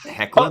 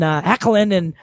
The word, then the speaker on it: Hoechlin: I think it's pronounced Hecklin.